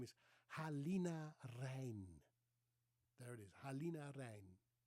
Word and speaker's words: Halina: Halina, wide open A.